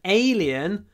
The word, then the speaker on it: alien: completely alien to me this word alien the stress is on the first syllable it's alien so lots of Y because it's the stress syllable it needs to be longer alien it's alien to